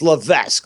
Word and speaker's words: Levesque: man Paul Levesque or L it's lavesque let's